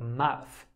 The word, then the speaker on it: mouth: Pay particular attention to tricky words like mouth. For many English learners, the th sound at the end of this word is very hard to say, and they confuse the words mouth and mouse.